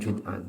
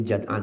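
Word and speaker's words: ابن جدعان: Ada yang menyebutnya dengan Jud'an, tapi Jad'an kebanyakan.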